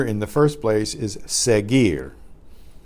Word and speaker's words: seguir: the first place is seguir SE g u ir where the you you remember is silent so that that preserved the the hard G sound before the sound of the letter I the e sound el profesor Karia que